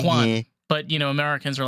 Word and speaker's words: Juan: so much is that my name Juan also sounds like check one two one I used to get that all the time check one check to I mean pronounce Juan but you know Americans